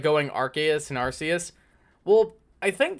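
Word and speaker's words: Arceus: phone and not an ARS phone no it's arus is it arus is that what is that how you're pronouncing that cuz I'm it's pronounced archus because like the in the games like Sy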